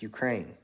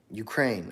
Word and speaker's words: Ukraine: It's Ukraine, right? Ukraine.